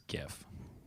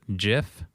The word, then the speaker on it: GIF: Okay, so honest to goodness, do you guys pronounce it GIF or Jiff? I pronounce it like it's supposed to be pronounced. GIF. Which is GIF. Because it has a G, not a J.